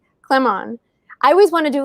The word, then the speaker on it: Clamon: But it's just clam on. I tell people it's like clap on, clap off.